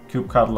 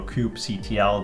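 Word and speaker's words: kubectl: you can see here there is actually um Cube cuddle available so the easiest way here is just to say install and then um let's do um install Cube color Cube CTL depending on how you want to pronounce it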